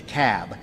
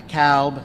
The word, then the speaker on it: Cobb: the room it's the cab not the cowb not the cob it's the cab so we got to pronounce these things dougherty another one of those where albini is they're 74.